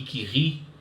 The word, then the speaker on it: Curie: a a grande cientista não é chamada Marie que ri se escreve Curie mas a gente fala anuncie aqui